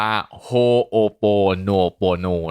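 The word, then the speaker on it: Hoʻoponopono: อีก ที นึง นะ มัน ออก เสียง ว่า โฮโป No Pro No นะ ครับ สำหรับ ใคร ที่ ไม่ รู้ ความ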